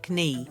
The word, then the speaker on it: knee: Knee, again, that K is silent.